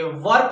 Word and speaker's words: were: वेयर नहीं पढ़ेंगे, वर पढ़ेंगे।